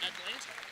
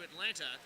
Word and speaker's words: Atlanta: We've discussed the silent T's in the native pronunciation of Atlanta.